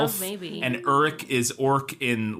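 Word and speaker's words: Uruk-hai: But they do say Uruk several times, U-R-U-K. And then there's Uruk dash Hai, H-A-I, which is what Saruman sends that he creates in the movie.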